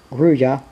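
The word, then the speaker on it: grulla: turn out to be a Gorola, pronounced Gruya, which is also a Spanish name.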